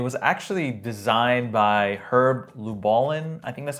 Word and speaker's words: Lubalin: avangard was it was actually designed by herb lubalin I think that's how he pronounced the name it looks like luin but it's actually pronounced lubalin and and I thought it what is that